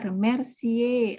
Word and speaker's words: remercier: Ya, remercier. Akhiran ER dilafalkan E. Remercier.